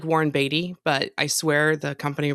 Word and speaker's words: Beatty: It's spelled like Warren Beatty, but I swear the company pronounces it Beatty.